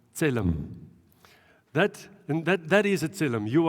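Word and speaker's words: צלם: Now, in the Hebrew word for image is this word, and I dare you to pronounce this. Yeah, tselem.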